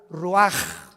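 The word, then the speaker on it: רוח: y exhaló Isaac el Roach así como suena se pronuncia la ch en hebreo como j ruaj se le salió y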